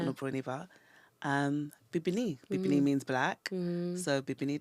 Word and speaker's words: Bibinee: So we said, well, instead of calling it Obroniba, because it's not an Obroniba, Bibinee.